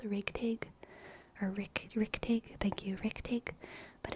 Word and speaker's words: richtig: in German, but it's like Rigtig is how it's spelled, Rigtig, or Richtig, thank you, Richtig, but it's very fun to say, Richtig.